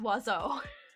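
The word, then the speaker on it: oiseau: And then you get bird, which is wazo. It doesn't look like it should be pronounced wazo.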